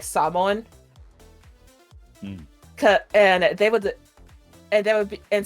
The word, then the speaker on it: Samoan: And then like other Actually, it's Samoan. The Rock is Samoan. I know Samoan people. It's like Samoan's correct too. It's just not, how it's usually pronounced there.